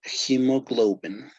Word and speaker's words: hemoglobin: pronounced hemo okay uh the h sounds like uh j in spanish so it would be hemoglobin okay okay and as